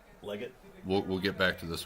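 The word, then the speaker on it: Legette: Ligon. It's Leggett.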